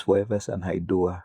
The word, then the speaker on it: Foreversun Haiduwah: My name is Foreversun Haiduwah.